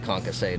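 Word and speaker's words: concassé: I think the tomatoes will get concassate in the Pilsner.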